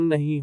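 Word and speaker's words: knee: K is silent before un. जब K अन के पहले आता है तो K का उच्चारण नहीं होता। नो जानना। नाइफ चाकू। नी घुटना।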